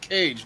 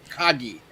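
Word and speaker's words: Kage: legend of cage because it's pronounced cage not cocky i've been saying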